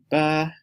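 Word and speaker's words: 八: For instance this tone ba is eight and this is ba means to pull up. This is ba to handle and this is ba which is dad.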